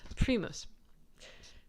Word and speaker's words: primus: All right, so Primus. Here we have pre and then moose.